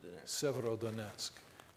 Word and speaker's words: Severodonetsk: That's the Russians reverting back to the way the Russians fight in the, tell me again how to pronounce it, Severodonetsk? Severodonetsk and Lysychansk right now.